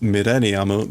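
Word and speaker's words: ミレニアム: But that's why I know that this is pronounced millennium, because in that story, they wrote it out in katakana, furigana.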